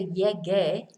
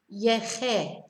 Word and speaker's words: llegué: because the first person, if we did not put in the U there for llegué, it would be double L E G E, and the pronunciation would be awkward because G is che, so it'd be yeche. So to avoid that, a U is inserted to make it easier to pronounce, basically.